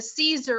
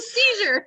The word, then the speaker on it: seizure: phoned 9-1-1 and said my mom's having a Caesar on the floor and I'm thinking Matt you can't say it like that it's a seizure so that's that's the